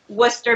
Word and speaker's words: Worcester: Worcester? Worcester. How do you pronounce it? Worcester, Mass.